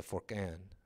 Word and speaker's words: Furqan: Jesus is the Furqan. Is that right pronunciation? Yeah.